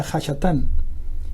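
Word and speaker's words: הַשָּׂטָן: Satanás viene de una palabra aramea que se pronuncia Hashatán, y que significa precisamente enemigo o adversario.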